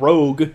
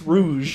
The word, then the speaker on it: Rouge: spell it now cuz her name's not rogue it's rouge hey you're preaching the